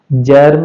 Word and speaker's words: जर्म: उसी तरह से जर्म जी के बाद में इ आया है। क्या हो जाएगा? जर्म हो जाएगा।